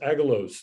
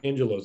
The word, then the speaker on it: Angelos: i recently learned uh whose first name is pronounced agalose not angelos i've been calling him angelos for several years